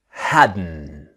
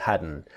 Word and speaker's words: hadn't: start our practice now remember the pronunciation is hadn't the T silent hadn't just like wasn't wearing